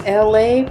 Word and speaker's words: Elay: So, ladies and gentlemen, boys and girls, this is Elay, pronounced like LA, like the city.